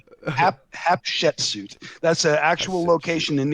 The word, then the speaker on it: Hatshepsut: maybe like the I don't know how to pronounce it. Maybe is it called Hatshepsut? The first mission is called Hatshepsut, right? Hatshepsut.